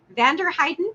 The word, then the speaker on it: Vanderheiden: to pronounce this correctly is it vanderheiden that's what I would say is that correct yes that that's correct yes please sir yes um